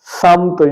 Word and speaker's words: سمت: ہے۔ درست تلفظ ہے سمت یعنی سین پر زبر ہے اور میم پر جزم ہے، تو ہم اس کو